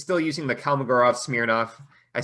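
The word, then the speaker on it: Kolmogorov–Smirnov: that in general because it's still using the kalmagorov smirnoff i said it right this time test um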